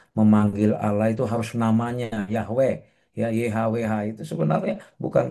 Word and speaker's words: Yahweh: Maka dalam bahasa Ibrani YHWH itu, ya bahkan sebenarnya kita tidak punya cara baca yang paling tepat untuk itu, ya. Walaupun akhirnya dipersepsi para pembelajar, para sarjana Kristen menyepakati ya penyebutannya disebut Yahweh gitu, ya, Yahweh.